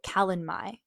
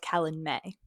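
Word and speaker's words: Calanmai: In the first Acatar book, there's this event spelled like this. And I would call it Kalen Mai, but I just realized it's called Kalen May.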